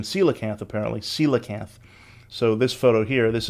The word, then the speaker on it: coelacanth: the coelacanth in the last episode i was pronouncing it wrong coalicath i was doing the classical latin pronunciation coelacanth apparently coelacanth so this photo here this is the ancient